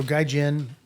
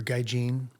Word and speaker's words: Gaijin: um so so so Gaijin or Gaijin you know you can pronounce it either way from from what I understand as a guy Gene um you know so